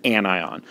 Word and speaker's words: anion: is known as an anion and anions I kind of remember that because it kind of looks like onion and some people actually accidentally pronounced a tenían and it gets really weird but when that negative